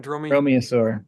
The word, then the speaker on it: dromaeosaur: Dromaeosaur, yes.